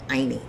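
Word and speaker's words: ayni: all levels is containing a quechua word called aini and that word is spelled a-y-n-i it is Loosely translated as Harmony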